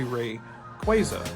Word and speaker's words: Rayquaza: And just like on the Arceus one, you can see it is actually Rayquaza. So again, I had to eat my words. Doesn't mean I'm always going to pronounce it right, because I'm used to saying it a certain way.